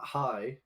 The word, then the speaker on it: hej: when I learned that hi or hello is hey, and then goodbye is no, it's hi, sorry, but it's HEJ, Uh-huh. so it's pronounced hi, but then goodbye is hi hi.